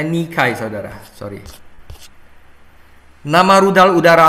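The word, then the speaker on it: Nike: akan kemenangan saudara jadi Dewi kemenangan Yunani adalah nikainya bacanya nikai saudara sor nama rudal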